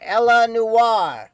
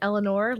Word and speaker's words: Eleanor: It is pronounced Eleanor, as in Roosevelt, and Unlovable, as in me.